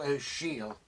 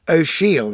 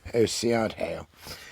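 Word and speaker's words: O'Siadhail: poet and themselves almost how to pronounce that name it's nice for you to see it if you want to get a copy yourself oh Shield that is not OCR Dale that's just very nice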